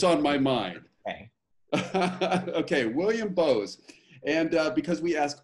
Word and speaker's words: Boos: your last name oh great question so it's pronounced bows like the speakers bows because i want to say booze but you can tell that's what's on my mind okay william bose and uh because we asked all of our